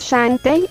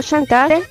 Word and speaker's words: Shantae: Espera, me faltó decirte de que mi nombre lo pronunciaste mal. Mi nombre es Shantae, no Shantae.